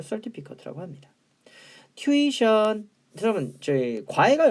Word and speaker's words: certificate: 그럼 certificate는 뭐냐? 이거 certificate이라고 읽어야 돼요. 발음기요. certificate.